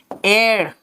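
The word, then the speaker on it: heir: देखो pronunciation wrong है बेटा, इसका प्रोनाउंसिएशन है एयर। एयर कैसे लिखे? एयर। हिंदी तो लिखा ही नहीं जा रहा है मुझसे, एयर, इसका प्रोनाउंसिएशन एयर है, हियर नहीं है।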